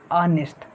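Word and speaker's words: honest: अब दोस्तों इसका जब आप साउंड, इसको जब आप प्रोनाउंस करोगे तो ऑनेस्ट क्या दोस्तों, आ से निकलता है।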